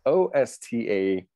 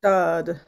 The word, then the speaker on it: Ostade: to how Ostad, it's O-S-T-A-D-E, right? O-S-T-A-D-E. How would you think you'd pronounce that? Adrian Ostad. Van Ostad. Ostad. Ostad. Not Ostade? Well, in Dutch, it would be Ostad.